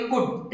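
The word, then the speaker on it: could: बोलोगे क्या इसको कुड कुछ स्टूडेंट इसको कुड बोलते हैं तो ये कुल्ट नहीं होता है एल साइलेंट रहता है इसको बोलेंगे कुड एक बार बोल के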